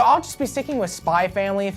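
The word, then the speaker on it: Spy × Family: X sometimes it's pronounced spy X family and worse uh sometimes X is pronounced like cross so I've heard spy cross family which sounds like an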